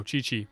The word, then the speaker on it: Qiqi: Qiqi. Is that how you pronounce that? I am Qiqi. Oh, Qiqi.